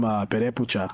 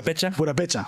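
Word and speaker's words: Purépecha: Because my mom told me that in my family we come from Perepucha. Yeah. Or I forget if that's how it's pronounced. Purapecha.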